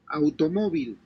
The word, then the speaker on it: automóvil: Automóvil, So AU is the diphthong, right? So by definition, it should be AU.